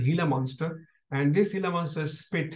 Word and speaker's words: Gila monster: reptile which is called hila monster is pronounced hila monster it's written as Gila monster pronounced as hila monster and this hila monster